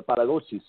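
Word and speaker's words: paradosis: the resurrection Paul was passing on the para dosis or as I like to call it correctly pronounced the para dosis which is a tradition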